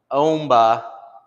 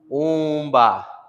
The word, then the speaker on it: omba: So if it's paired with an N or an M, it's always going to turn it slightly to a nasal sound. So it's not omba, omba, it's umba, umba, umba.